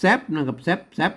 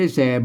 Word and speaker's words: แซ่บ: ไม่ สั้น นะ ครับ ต้อง อ่าน ว่า แซ่บ นะ ครับ ไม่ ใช่ แสบ บ๊ะ นะ ครับ อัน นี้ ก็